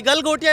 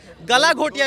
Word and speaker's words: Galgotia: Logical चीज़ें बोलिए और थोड़ा प्रोनाउंसिएशन बहुत बेहतर तरीके से करिए कि गलगोटिया यूनिवर्सिटी है, नॉट एट गलाघोटिया यूनिवर्सिटी।